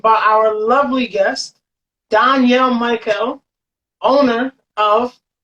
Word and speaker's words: Mikel: Because I was like, is it Michael or is it Mikel? Mikel. Yeah. Oh, damn, I got it right. Okay. Yes. I pride myself in pronouncing people's names correctly.